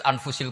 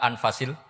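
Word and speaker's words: أنفس: Di sini ditulis anfusil kutub. Selalu saya baca anfasil kutub karena maknanya kitab terbaik. Kalau kitab terbaik bacanya bukan anfus tapi apa? Anfas.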